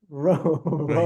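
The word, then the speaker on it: Rouen: it is said as ran you got you got to say it like there's peanut butter in your mouth raw um I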